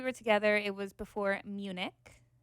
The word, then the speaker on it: Munich: So last time we were together, it was before Munich, right? That's how you pronounce it.